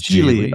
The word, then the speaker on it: Geely: A Geely or Geely? It is Geely.